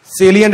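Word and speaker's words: salient: page पे था ना, सेलियंट एडवांटेजेस ऑफ, इसको साइलेंट मत प्रोनाउंस करना, सेलियंट बोलते हैं सेल, मतलब बहुत लोग बच्चे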